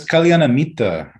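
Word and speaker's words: kalyana mitta: the calamity my tree how do you say that calamaitria well it's that's kaliana mita kalianamita but i was thinking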